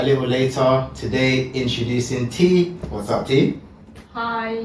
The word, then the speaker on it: Thi: So, correctly pronounced? Whatever you want, sure. Thi.